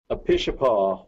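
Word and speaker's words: Apishapa: and Wildlife to ask what do you say a pitcher paw wildlife area down in southeast Colorado there was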